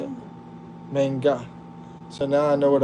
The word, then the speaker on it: manga: Manga.